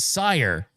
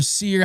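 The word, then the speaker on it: Cyr: I guess I called it Sire. And Tyler Sear, he was in my face. He was like, my family is proud of that name, and you're popular on YouTube, and a lot of people saw that, and I really want you to go back and pronounce my name correctly. It's Tyler Sear.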